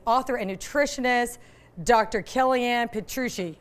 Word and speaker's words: Petrucci: Kellyanne Petrucci. Did I say it right, Doctor? You got it, Petrucci. I love it. Italian, you got it.